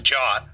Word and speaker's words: JWT: use of the JSON web token or JWT pronounced the JA format for tokens job tokens and code a